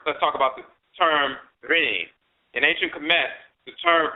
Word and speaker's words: Ren: Now, very often they will stick an E in between the R and N to facilitate pronunciation, because very often the